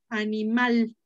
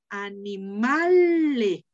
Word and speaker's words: animal: la palabra era animal animales entonces perdió la última sílaba aunque perdió la última sílaba conservo el acento en la penúltima entonces cuando pierde la